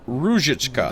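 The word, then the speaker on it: Růžička: Our corporate Oh, emphasis on the first syllable though, so Ruzhichka.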